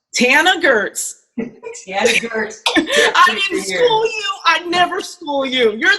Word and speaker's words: Tana Goertz: a lesson on it it is like Hannah but pronounced and mentioned with a t so Tana Gertz welcome to the show